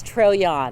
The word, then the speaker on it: Trojahn: Sure, it's Trojan. Can you spell it?